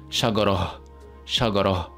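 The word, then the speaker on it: شجرة: Now notice how when we pronounce this word as well, we pronounce it with the he sound. So we said shagara.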